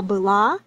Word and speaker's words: была: So the difference is only in the stress mark. So pay attention here. One more time: она былА, оно бЫло.